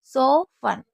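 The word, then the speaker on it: soften: और इसके बाद जैसे सो फन, सो फन में भी टी को साइलेंट रखा जाता है।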